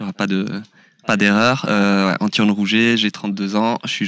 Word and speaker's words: Antton Rouget: voilà ok donc présentation je redis la première prononciation de mon prénom comme ça il y aura pas de pas d'erreur anti-roule rouget j'ai 32 ans je suis journaliste au pôle